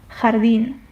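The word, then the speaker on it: jardín: Jardin jardin which means garden in Spanish. So the jota is always pronounced like the flu H.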